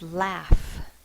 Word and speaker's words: laugh: is saying F enough the next word is laugh I like to laugh l a f the first sound is the next sound is a it's spelled with au U and then F the g h is representing the F now I know the